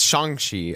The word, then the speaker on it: Shang-Chi: It's Shang-Chi.